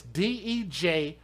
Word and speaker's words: Dejanay: It's a name that you wouldn't be able to pronounce properly if you didn't know that's what it said. But it's Dejhanay, and then Gerald, Jarrell.